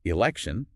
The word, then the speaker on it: election: The teacher would ask students to combine them, make election, and then specifically draw attention to how adding ion changes the pronunciation of that final T Oh, right, from at in elect. to a shesh sound in Actor Jeff- election.